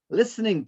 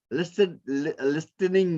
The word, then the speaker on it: listening: Listening, T, we don't say listening, we don't say, no, it's listening. T is silent.